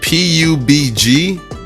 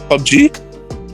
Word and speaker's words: PUBG: how to say this it's the p-u-b-g that doesn't even seem like it could be a word the pug g p pobo pubg pub g there you go pub g mobile or